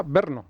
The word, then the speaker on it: Brno: Sí, vino ¿Cómo se pronuncia Brno? Se pronuncia Brno.